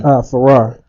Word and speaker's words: Farrar: Farrar. Farrar, like Yeah, Ferrari F-A-R. without the I. Farrar, is the I silent? No, it's just F-A-R-A-R.